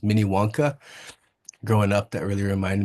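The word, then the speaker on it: Minnewanka: Mini Wonka is the proper way to say it. And I think the way most people know it is Mini Wonka.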